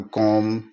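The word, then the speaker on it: comb: उदाहरण के लिए है सीओ एम बी यहां एम है वह बी से पहले आ रहा है तो यहां बी का उच्चारण नहीं होगा इसको हम कोम ही पढ़ेंगे यानी बी इसमें साइलेंट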